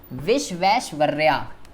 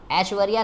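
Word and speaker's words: Visvesvaraya: विश्वेश्वर्या, ठीक है जी। मोक्ष गुंडुम विश्वेश्वर्या, ऐश्वर्या नहीं है, कहीं ऐश्वर्या पढ़ने लग जाओ, ठीक है, कहीं ऐश्वर्या राय बना दो इसको।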